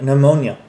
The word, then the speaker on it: pneumonia: It's like pneumonia. The P is not pronounced, why is it there?